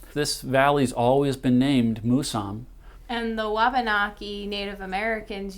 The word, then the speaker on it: Mousam: and she pronounced it, it's supposed to be pronounced Mousam. She said it means grandfather. That's very important to me because I'm about to become a grandfather myself. This valley's always been named Mousam.